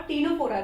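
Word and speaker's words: Ctenophora: P एक बार है, देखो पोरीफेरा, सिलेंड्रेटा और टीनोफोरा। ध्यान रखना टीनोफोरा की स्पेलिंग C से स्टार्ट हो रही है।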